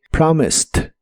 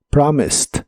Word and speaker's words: promised: termina con Ed aunque esa Ed se pronuncia como t promised promised en el pasado lo